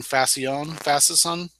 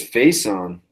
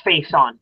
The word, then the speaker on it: Faison: I'm going to butcher this last name, but Brandon Fasson? I don't know. I think it's Faison. Faison? Yeah, I'm not 100%. Mello, do you know? Yeah, it's Faison.